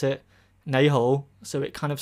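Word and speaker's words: 你好: In Cantonese, you can pronounce it nei hou.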